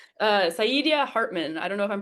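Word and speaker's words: Saidiya Hartman: This is This is the part we edit, but we're good at uh Sidia Hartman. I don't know if I'm pronouncing that right, but Oh, Sadia Hartman.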